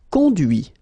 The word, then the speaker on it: conduit: Conduire, conduit. Construire, construit. Cuire, cuit. Détruire, détruit. Instruire, instruit. Okay, so you can notice that even if I put this final T, so as usual, I don't pronounce it.